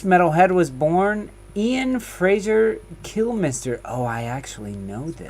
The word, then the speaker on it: Kilmister: This metalhead was born Ian Fraser Kilmister. Oh, I actually know this. Pronounced Killmeister. No, I will never pronounce it that way.